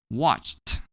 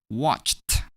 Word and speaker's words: watched: That is how we pronounce ed as t when we add ed to verbs.